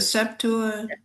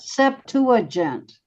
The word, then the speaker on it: Septuagint: The Septuagint. the what? Septuagint. Septuagint. And that's a Greek translation of the Old Testament or the New, both? Latin translation, is it not? What? Mhm. Septuagint is Latin translation.